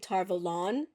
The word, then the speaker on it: Tar Valon: I do think Tar Valon is a better pronunciation because I think it's meant to sound like the city of Avalon from Arthurian legend.